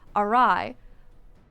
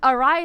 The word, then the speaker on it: awry: So I just awry. Or what's another one? Oh, I forgot. But Ari is a big one.